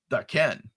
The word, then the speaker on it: Daken: Google has the pronunciation of Daken. It is a Japanese word. So it would be Daken, right? Which is the way we've been pronouncing it.